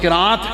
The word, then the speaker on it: قراءت: قرآن کی قراءت ہے جس کو عام لوگ قرأت کہتے ہیں، جس کا تلفظ قراءت ہے، جس کی جمع قراءات